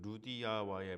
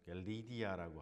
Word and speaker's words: 루디아: 첫 번째는 그 루디아와의 만남이 있었습니다. 굉장한 사건입니다. 이것이 사실은 루디아는 리디아라고 하죠. 리디아, 루디아. 성경에서는 루디아라고 그러고 영어로 리디아라고 발음을 합니다만, 바울과 그 일행이 이제 회당이 그 빌립보 지역에 없으니까 기도처소가 없잖아요.